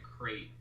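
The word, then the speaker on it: Krayt: No, it's pronounced like a crate, Darth Crate, like a crate dragon.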